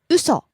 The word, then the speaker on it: 嘘: 嘘 Lie. 嘘嘘 Falling on the second syllable. Starts high, falls.